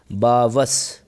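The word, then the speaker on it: barbarous: बावस, बावस ये लिखा है, हो ये आर को आप साइलेंट टाइप में बोलें, बावस।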